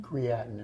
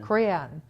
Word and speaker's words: creatinine: My creatine level, am I saying it right? Creatine? Creatinine. Creatinine.